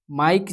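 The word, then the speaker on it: mike: और यहाँ पे जो है माइक जो है यहाँ पे बोलने पर आपका जो ई है साइलेंट रहता है।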